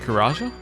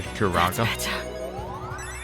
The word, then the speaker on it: Karaga: Karaja? Yeah, that'll work for now. For Karaga. I think I keep saying it with a J rather than G. I should try and say it properly.